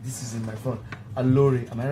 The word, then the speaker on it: Aloore: Aloore, am I right? Aloore, yes. Aloore radio studio line. Now I want to pronounce it because I want to sing.